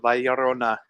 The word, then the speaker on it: La Llorona: franchise the curse of valorona a name that I still have trouble pronouncing Rona you gotta roll the r look look Corona foreign